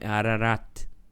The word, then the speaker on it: Ararat: É que no hebraico quase não pronuncia, né? Esse t. Então é ararat, né?